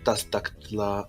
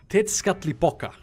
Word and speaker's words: Tezcatlipoca: I shall first take the seal of Tastaktla. Oh god, this word. Wait, let me try to pronounce it. Tezcatlipoca.